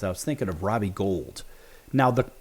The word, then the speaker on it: Gould: a very good one he has the exact same spelling and he pronounces it gold it's pretty interesting nonetheless